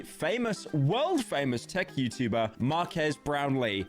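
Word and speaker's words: Marques Brownlee: world famous Tech YouTuber Marquez brownley not to be confused with How Will Smith pronounced him in YouTube Rewind Mark ass brownley and Mark ass brownley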